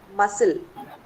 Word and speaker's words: muscle: Fourth one. Muscle. Muscle. C is silent.